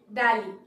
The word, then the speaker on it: Delhi: And the next one is Delhi, Delhi, our capital, Delhi. আমরা কিন্তু বলবো না দিল্লি, আমরা বলবো Delhi, Delhi.